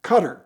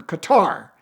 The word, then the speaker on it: Qatar: He is a prince from Qatar, or Qatar. I think it's actually pronounced Qatar.